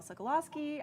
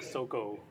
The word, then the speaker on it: Sokolowski: my name is sokolowski i am your panel host and i am joined by i think that's the first time i've heard it pronounced my actual last name i was always like soco now you know now